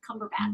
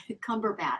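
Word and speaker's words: Cumberbatch: I know I'm like and how do you pronounce the other guys Benedict cumber bat Benedict which is the egg sandwich right or like the EG Benedict eggs benedict Cabbage Patch cumber batch cumber batch very good actor love his work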